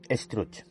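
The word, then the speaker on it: Estruch: España, con el conde Struch. El conde Struch, pronunciado como Struc, fue, según una leyenda catalana, un noble catalán del siglo XII llamado Wifred.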